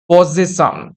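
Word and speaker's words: possession: কিভাবে উচ্চারণ করবে? পজ। তারপরে সেশন। পজেশন।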